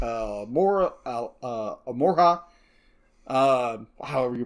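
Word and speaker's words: Alohomora: others that I'll occasionally listen to like uh Mora Amora uh however you pronounce that it's a Harry Potter podcast alohamora alohamora thank you I don't remember which spell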